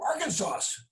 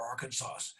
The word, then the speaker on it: Arkansas: And you said you're going to go to Arkansas. Arkansas. And I said, Arkansas? What on earth is an Arkansas? I don't know. I never heard that word before, Arkansas.